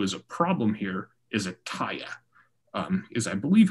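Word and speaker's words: Etteilla: a problem here is Ataya. Is I believe how you pronounce that, though there's not really a correct way to pronounce it because his name is just backwards. Ataya is a play on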